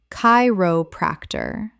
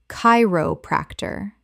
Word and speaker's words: chiropractor: Chiropractor. Correct pronunciation. Chiropractor. The c h makes a k sound. Four syllables with stress on the first.